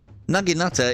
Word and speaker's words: naginata: naginata come on now naginata is how it is pronounced I've used a naginata